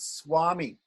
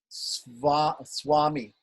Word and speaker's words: Swami: But when it's mixed with another consonant, we pronounce it like a W. Swami.